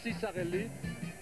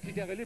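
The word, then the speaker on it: Ciccarelli: 90 incroyable et chicarelli il y en a qui se demande comment il faut prononcer son nom parce qu'il y en a plusieurs aux États-Unis qui prononcent sarelli et nous on dit tout le temps chikarelli pour une bonne raison c'est qu'on lui a demandé oui donc ici voilà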